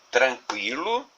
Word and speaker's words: tranquilo: Se nós retirarmos a letra U dessas duas palavras, a palavra já não será pronunciada da mesma forma, né? Então, tranquilo sem o U, eu vou ler tranquilo, que não é a mesma coisa de tranquilo.